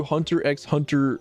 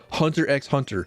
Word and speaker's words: Hunter x Hunter: actually only know that the X in Hunter x Hunter is not to be pronounced and if you pronounce